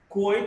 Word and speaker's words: quote: There are exceptions. Quran and Quranic, quote in these words, QU is pronounced as Q.